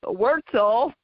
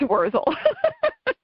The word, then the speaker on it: Wurzel: So when my younger brother, got a little more sophisticated, he changed the pronunciation to Wurzel, but people put a T in there and call it Wurzel, but it's Wurzel.